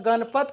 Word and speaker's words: गणपत: आप एक चीज़ ध्यान दीजिए, जब गणपत का उच्चारण करिएगा थोड़ा हौले हौले करिएगा, ठीक है, धीरे धीरे। गणपत, गणपत। तो गणपत जब हम हौले हौले आप करिएगा तो गण, गण, उसके बाद विराम हो जाता है मुंह।